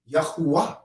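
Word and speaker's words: Yahuah: same word like that but if you have the understanding that the w is really a u if you have that understanding you're going to pronounce it with the r cell then it's going to be y-a-h-u-a-h yahuwah some people pronounce that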